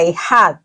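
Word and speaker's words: אחד: Una palabra que se pronuncia ejad, se escribe así, bueno, en hebreo es diferente.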